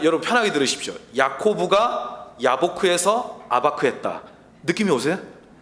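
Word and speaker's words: אבק: 그리고 씨름은 아바크입니다. 막 머리 아프죠? 그냥 여러분 편하게 들으십시오. 야코브가 야보크에서 아바크했다.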